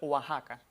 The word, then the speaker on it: Oaxaca: Y esta X suena entonces como J en esos tres topónimos arcaizantes, o sea, topónimos que en un pasado mantuvieron esa X etimológica y su pronunciación es como J.